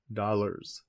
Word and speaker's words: dollars: But you could also use dollars if you wanted, though it is often pronounced with a Z sound, dollars.